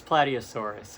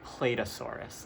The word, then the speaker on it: Plateosaurus: Next is Plateosaurus, or as I called it Platedosaurus, like it was a waiter or something.